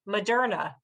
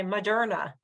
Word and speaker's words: Moderna: Okay, so we have "culture" with a U, but then look at this: Moderna, Moderna, Moderna. It's the same thing: uh, uh. We don't really say MOderna. We say Muhderna, and that's the name